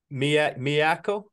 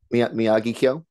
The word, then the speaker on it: Miyagikyo: We're gonna go with coffee grain, coffee malt, uh, Miyako. Is that how you pronounce it? Miyagikyo.